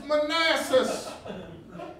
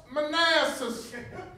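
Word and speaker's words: Manassas: in which this battle will be fought is Manasses it is pronounced Manasses I know that some of y'all have been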